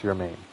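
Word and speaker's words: Germán: I think it's pronounced Yermain.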